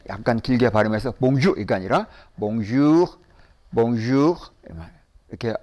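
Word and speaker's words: bonjour: 발음을 좀 길게 약간 길게 바르면서 봉주르가 아니라 몽쥬 몽쥬 이렇게 발음하면은 이게 아침이나 낮에 하는 인사가 돼요 그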